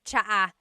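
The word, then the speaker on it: tsaa: that you drink and it's spelled TSA a cha cha that's such a talog spelling I love it there's the TS sound and then the double vowel uh pronunciation cha it's so talog yes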